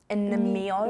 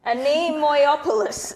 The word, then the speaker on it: Anemoiapolis: Anemoiapolis. How do you say that? Anemoi? Anemio? No. Anemoiapolis. Anemoiapolis. Okay, I'm just not gonna Okay.